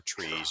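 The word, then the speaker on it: TRIZ: i z it's called Tris or trees you can pronounce it either way it's a Russian acronym that roughly translates to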